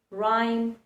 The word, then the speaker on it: rhyme: It also remains silent when it's put together with R in words like rhyme, rhythm.